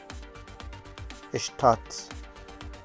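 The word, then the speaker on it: Stadt: اشت اشت اشت اشت اشتات بعد از اس اگر ت بیاد اشت و مثالش هم اشتات هست اشتات به معنای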